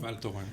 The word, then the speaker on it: Val Thorens: um V how do you say that name valto valto thank you in the French Alps with